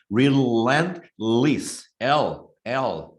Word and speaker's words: relentless: 이게 액센트가 여기 있어요. relentless, L. 햇바닥을 앞니빨에 붙이세요. L. relentless.